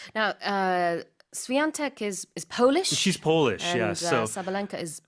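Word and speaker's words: Świątek: And it's Swiatek. There's a that French pronunciation, Yeah. Swiatek. Yeah, in the middle. Although there's no N or G or anything in her name.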